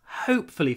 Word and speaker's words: hopefully: it won't rain tomorrow it's quite difficult to pronounce hopefully firstly H you need to start with your mouth open hope not hope hope H hope don't forget the word hope and then flee flee flee hope flee flee you need to